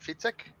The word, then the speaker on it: Fietzek: So I said, Fietzek, you're to fit because you're sick.